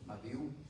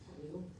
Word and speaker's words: Abiú: Abiú, no sé tienen un acento en la U. Abiú. Abiú.